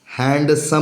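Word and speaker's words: handsome: D plus ji it means D के बाद जब जी हो एन हो एस हो डब्ल्यू हो तो इस डी का आवाज नहीं निकलेगा।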